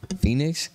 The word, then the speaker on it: Fenix: Phoenix? Phoenix, yeah.